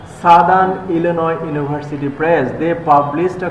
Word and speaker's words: Illinois: The spelling is ilo but pronunciation is ilio. Ilinoi Ilinoi. Southern Illinois University Press.